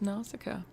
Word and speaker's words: Nausicaa: It is just Nausicaa.